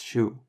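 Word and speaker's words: Schuh: like oh and then the open version of this letter appears in shoe which is shu other English words where this appears are who or pool if you want to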